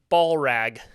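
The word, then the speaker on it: Ballllrag: up what is your name doctor oh um ball rag ball rag Dr ball rag yeah and that is spelled b a l l l l r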